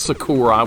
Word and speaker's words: Sakura: with you playing Sakura without a doubt it's Sakura we were all mispronouncing her name all right can I beat